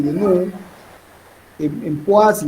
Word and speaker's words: poise: Se escribe poise, se pronuncia poise y en el sistema internacional CGS es PO, una mayúscula y una minúscula.